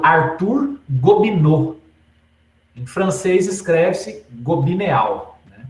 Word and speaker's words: Gobineau: escritor francês chamado Arthur governo em francês cresce gobineau pronúncia governo e esse livro se chamava ensaio sobre